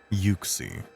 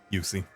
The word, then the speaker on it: Uxie: I think it's Uxie? Maybe. Uxie. Pokemon pronunciation. It is pronounced Uxie. Yep, Uxie.